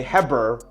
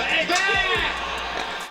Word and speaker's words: Heber: Balls for Ebed! Ebed, I think I get that one. I don't think you pronounce the H.